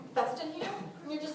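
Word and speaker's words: Featherstonehaugh: And occasionally I'll just take a name, like Festin Hugh.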